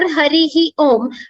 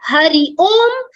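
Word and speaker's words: हरिः ओम्: It is pronounced as Hari Om or Harihi Om. Harihi Om is, technically Harihi Om is the right way of pronouncing. But Hari Om, there is a rule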